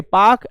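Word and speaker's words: Palk: पाक स्टेट जो है पी ए एल के पाक एल जो है यहां पे साइलेंट होता है यह बंगाल की खाड़ी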